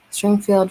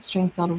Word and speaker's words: Stringfield: what i was thinking springfield family no stringfield ridge farm found out i